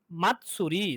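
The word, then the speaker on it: 祭り: মাত, মাতসুরি।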